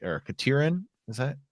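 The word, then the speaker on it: Katerine: Or Katirin, is that how you pronounce that? Yeah, I don't actually. Katarine, maybe, or Katarine. Yeah, Katarine.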